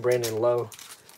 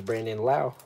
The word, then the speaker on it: Brandon Lowe: top 100 yeah yeah because some people call him brandon lowe but his name is brandon lau like you just said there's